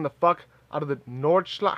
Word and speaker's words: Nordschleife: Bro, I'm still digging the fuck out of the Nordschleife. How do you pronounce that shit? Nordschleife.